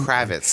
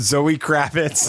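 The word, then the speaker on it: Zoë Kravitz: cvitas kit can you do you not even know how to pronounce her name Kravitz there we go it's Zoe Kravitz I thought Zoe Kravitz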